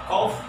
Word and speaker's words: cough: Sama saja kalau Anda batuk, coughing umpamanya, itu cough. Coffee. Cough, F I ujungnya.